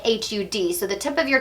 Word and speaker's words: Har: So we're going to chant the mantra HUD, which is spelled like H-A-R but pronounced like H-U-D.